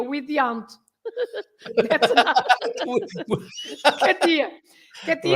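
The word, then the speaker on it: Kátia: Katia, yes, Katia, because it has an accent on the A, you say Katia, otherwise it would be Katia.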